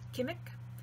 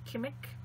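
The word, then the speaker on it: qimmiq: say it right because it's not case it's not gimmick it's chemic with a uvular plosive which is like like a k but back further in the mouth that's not quite okay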